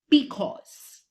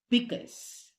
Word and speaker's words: because: Because. Nah, that's not the correct pronunciation. Because. The correct pronunciation is because. Because. That is the pronunciation.